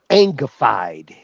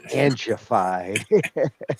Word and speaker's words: Angified: And it's not Angified, it's Angified.